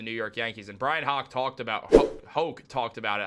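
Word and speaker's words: Hoch: Max Fried has been great for the New York Yankees, and Brian Hoke talked about it. I always want to call him Hawk. I know it's Brian Hoke.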